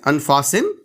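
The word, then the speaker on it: unfasten: T silent है अनफासिन या फिर टेक ऑफ।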